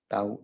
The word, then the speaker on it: tau: Torque is equal to torque 1, torque 2 plus up to tau n. Okay, its pronunciation is what? Tau.